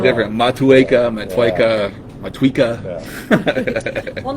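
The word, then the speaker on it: Motueka: So many people say I will never take these hops and actually try to pronounce it correctly. so many people because I say it wrong. different. Matueca, Matueca.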